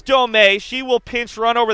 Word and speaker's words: Domey: But it is Domey.